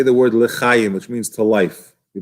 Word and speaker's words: lechayim: So he says to be very careful to say lechayim, to life, and not lachayim, which is another way to pronounce it. Why? Because lachayim could sound like 2 words in Hebrew, la, which means loy, not chayim, not life, God forbid.